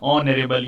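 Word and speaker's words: honourable: यहाँ पर इसका जो प्रोनाउंसिएशन है ये वॉवेल से शुरू हो रहा है, ऑनरेबल, ऑनरेबल। हालांकि एच जो है ये कॉन्सोनेंट है, बट इसका प्रोनाउंसिएशन जो है, उच्चारण जो है, ऑनरेबल, ऑनरेबल, ऑनरेबल, ऑनरेबल, आ से शुरू हो रहा है, यानी वॉवेल से, इसलिए एन आएगा, राइट।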